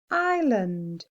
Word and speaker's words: island: done inter rest the next word has a silent letter island island did you get the silent letter good job if you did it's an s i s land tricky